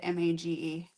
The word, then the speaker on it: mage: It's a cozy, chaotic fantasy about an assassin that had one mission and instead adopted a, how do you say that word? M-A-G-E. Mage.